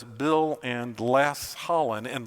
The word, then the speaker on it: Les: And you'll notice that underneath the caption, if you're able to read that, it says Bill and Les Hollon, and Les is spelled L-E-S-S. Like less than, you know.